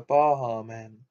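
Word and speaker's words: Baha Men: let the dogs out by the bar men and they pronounce it it's got an h in there not a j nine that you secretly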